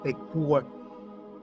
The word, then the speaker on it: Ekur: Joseph Farrell in his latest book, The Demon in the Eur is actually pronounced Ekur, this was um put it this way, the